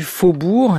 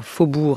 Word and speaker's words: faubourg: aux eaux usées voilà faubourg avec sauge et qu'on n'entend pas qui ne se prononce pas mais qui est bel et bien là à la fin du mot un carillon c ar